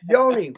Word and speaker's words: Yoni: Yoni. Yeah. Yoni rhymes with macaroni. That's right.